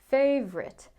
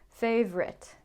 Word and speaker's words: favorite: And then another really common word, favorite. Not favorite, favorite. Okay, so you can see that sometimes the unstressed vowels in the middle are getting deleted, and maybe you think it's a 3-syllable word, like chocolate, turns into a 2-syllable word, chocolate.